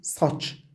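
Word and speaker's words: saç: س إذا جاء بعده حرف مفخم يقرأ صادا، لذلك هنا نقول ساتش يعني شعر.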